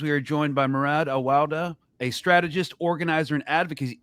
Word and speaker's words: Awawdeh: How do I pronounce that? I just want to make sure I don't mess it up. Awawdeh. Okay. My apologies. Murad Awawdeh.